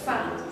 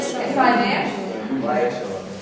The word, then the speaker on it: sang: Si par un cœur, dans l'expression, le sang se prononce toujours sang. On ne prononce pas le S à sang. C'est pour ça que. On a tendance à dire SANF. Si les prédictions étaient mises,